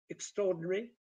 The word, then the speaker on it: extraordinary: sport sounds like sport extraordinary originally six syllables but may have uh four syllables separate sebardo zenya listen